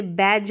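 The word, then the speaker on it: badge: जाएगा sound next देखें जब किसी वर्ड में डी के बाद में जी ई आए तो यानी डी के बाद में जब जी ई आएगा तो यह जो डी है ना यह साइलेंट रहेगा यह पहले भी मैंने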